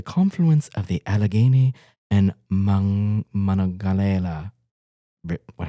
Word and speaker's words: Monongahela: located at the confluence of the Allegheny and Monongahela. What how do you pronounce that? Monongahela.